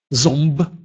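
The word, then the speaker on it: ząb: Если эти буквы стоят перед звуком «б» или «п», то тогда они произносятся как «ом» или «м». Например, «зомб» или «компач». «Зомб» – «зуб».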